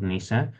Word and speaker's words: Nise: I think it's pronounced Nise, not Nise.